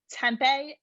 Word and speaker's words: tempeh: see what it is it's with a t and it sounds like tempo yeah a little bit